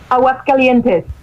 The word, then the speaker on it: Aguascalientes: Aguascalientes.